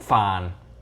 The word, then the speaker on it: Phan: Cantonese fam out there y'all have been saying it right every time you're saying it's dinnertime with sick Fon that's right that's how you say it sick Fon Chris what